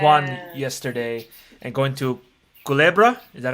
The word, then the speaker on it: Culebra: at old san juan yesterday and going to culebra is that how you say it yes snake